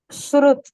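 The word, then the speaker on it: Suhrit: Oh, you H is silent? No, H is not silent. Surut. Surut. Okay. Surut.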